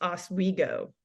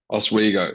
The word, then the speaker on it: Oswego: It's pronounced Oswego. Oswego, so Lake Oswego Tax, and then you've got